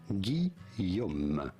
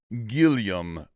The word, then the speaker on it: Guillaume: It's the French equivalent of William? Ah! Guillaume. The L sound is not really... Guillaume.